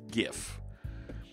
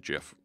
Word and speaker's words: GIF: with folks on the west coast and they pronounced it gif and say look it looks it's graphics of course it's gif and that's stuck for me for better part